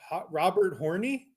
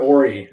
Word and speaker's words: Horry: it's Robert Ory. I think I'm not announcing these names. No, it's Robert Ory. Robert Hornery. Ory. It's not that hard. Horry? Or E. Robert Horry. No, you don't pronounce the H.